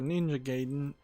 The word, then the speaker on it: Ninja Gaiden: which yeah i saw a speed run for ninja gaiden and i was trying to compare that in